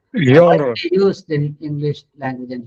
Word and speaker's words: genre: It is a French word. It is Genre.